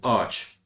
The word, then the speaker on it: ağaç: So what does soft G do? It connects two vowels or prolongs a vowel. That's it. So in the example ağaç, it just connects them to prevent saying ağaç.